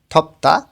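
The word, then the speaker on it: 덥다: ব বাচ্চিমের পরে যখন দিউত আসে তখন দটা অনেকটা তয়ের মতন উচ্চারণ হয়, থপ্তা গরম।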